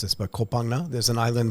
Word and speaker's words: Koh Phangan: to mispronounce this, but Koh Phangan. There's an island. Koh Phangan, yeah. Koh Phangan, thank you. It's not the Thai pronunciation, but yes. Okay.